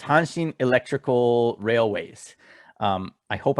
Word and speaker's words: Hanshin: so the tigers are the hansen tigers and hanshin is actually is actually the name of the